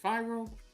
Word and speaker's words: Fyro: Is it Fyro? Yes, you were actually the only person that's ever said it right.